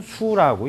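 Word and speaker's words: 宿: 근데 숙자인데 별자리를 나타낼 때는 수라고 읽어요. 별자리를 나타낼 때는 수.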